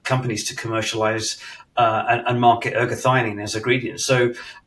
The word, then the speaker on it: ergothioneine: So, what exactly is ergothioneine? It's called Ergo for short. And to be honest, your pronunciation is great because one of the top